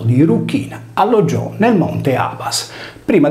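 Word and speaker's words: Erucina: La diva dell'amore era chiamata anche Dea Cruciforme, poiché il suo nome veniva pronunciato Eruchina, che vuol dire in sardo, appunto, della croce.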